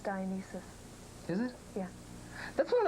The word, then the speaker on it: Dionysus: It's pronounced Dionysus.